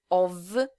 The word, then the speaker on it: of: Que é o a lot of, lembrando que aqui a pronúncia, esse F tem som de V, of, lots of, a great deal of, a good deal of.